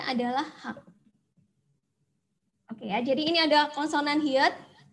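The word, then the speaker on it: 학: Ini bacanya adalah hak. Bacanya adalah hak.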